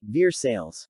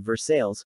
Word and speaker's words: Versailles: for the towns of Versailles, Kentucky, as well as Versailles, Ohio. It has to do with the choppy way the early Scots settlers in all three of these towns tended to emphasize second syllables over the first.